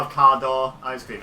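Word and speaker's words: Carte d'Or: you guys not have cardor ice cream it's spelled cart but technically it should be pronounced caror so it sounds quite a lot like car door so I was like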